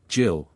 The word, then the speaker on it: gill: A gill pronounced jill was a quarter of a pint.